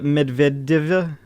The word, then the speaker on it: Medvedeva: That's actually the correct pronunciation, by the way. Evgenia Medvedeva Yeah, and Medvedev.